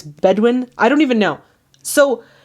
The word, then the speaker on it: Bedouin: And I think in the historical background I called it like the Boudouin tribes, but it's Bedouin.